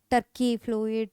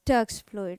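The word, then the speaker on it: Turk's fluid: man Turks fluid good you should not pronounce it as turkey fluid tury fluid okay so it is turx fluid what is the composition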